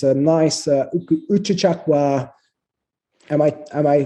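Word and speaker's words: Uchucchacua: It's a nice Uchichakwa. Am I pronouncing right?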